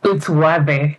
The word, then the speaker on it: Wathe: It's Wathe. So the Wathe, that's Wathe. That's how we pronounce it here in Kenya.